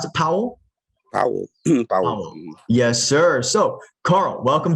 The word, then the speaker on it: Powell: you got special guests i got carl paul powell is that how we pronounce the powell yes sir so carl welcome to the show